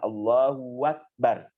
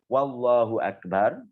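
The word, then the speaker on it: الله أكبر: membaca takbir itu adalah tidak boleh mengganti hamzah akbar dengan waw. Yang terakhir, tidak boleh menambah atau mengganti hamzah dengan waw. Kemudian diucapkan Allahu Akbar. Tidak boleh mengucapkan Wallahu Akbar. Tidak boleh mengucapkan Allahu Akbar. Tidak boleh mengucapkan juga Allahu Akbar. Jadi hamzahnya diganti dengan waw. Tidak boleh.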